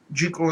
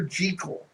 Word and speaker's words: Jekyll: Frankenstein and Dracula and Jekyll and Hyde and a bunch of the other Victorian stories. And by the way, for the record, it's Dr. Jekyll and Mr. Hyde, not Jekyll. It's a common mispronunciation.